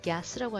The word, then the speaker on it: gas: 자, 얘도 가스가 아니라 gas라고 하셔야 돼요. 입 옆으로 찢으면서 gas station 이라고 발음한다는 거 기억하시기 바랍니다.